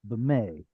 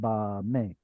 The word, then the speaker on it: במה: First time you read it, I think you shortened that initial vowel like too short, almost like it were a schwa, like a yay or b'meh instead of ba me or a yay.